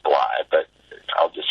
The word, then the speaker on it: Blythe: um it's Randy BL my name is pronounced BL but I'll just say